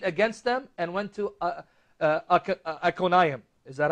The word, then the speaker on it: Iconium: And they shook off the dust from their feet against them and went to Iconium. Is that how you pronounce it? Iconium, yeah.